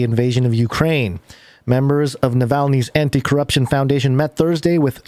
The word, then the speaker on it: Navalny: how you say it i said it yeah navalny oh yeah yeah yeah yeah yeah samuel melanie's